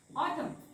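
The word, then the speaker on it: autumn: एम च्या नंतर आलाय म्हणून हा शब्द होतो ऑटम ऑटम ऑटम राईट न वाचायचा नाही कारण तो झोपणारा शब्द आहे ओके नेक्स्ट बघूया आपण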